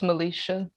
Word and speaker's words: Milecia: next presenter to the session um mcgregor is pronounced melisha thank you melisha yeah um she's her talk